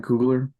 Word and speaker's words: Coogler: um you know it really listening to Ryan coogler um that's how you pronounce his last name I'm sorry but uh